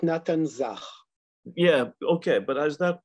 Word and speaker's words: Nathan Zach: And is it Nathan Zach? In Hebrew, we pronounce it Natan Zach.